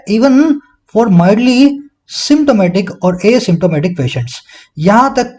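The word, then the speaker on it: asymptomatic: Sentence में देखने वाली चीज क्या है मेरे भाई, ये एसिम्टोमेटिक है, इसको असिम्टोमेटिक ना बोलें।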